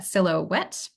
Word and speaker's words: silhouette: silhouette coefficient um and I realized this is a probably a bit of a weird English word so this is this is how you pronounce that silouette um and so the